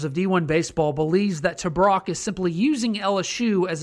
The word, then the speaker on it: Tabrock: Creighton's two-time Big East Pitcher of the Year, Dylan Tabrock. I actually looked it up. It's not T-break, it's Tabrock. Don't ask me why it's spelled that way, but whatever.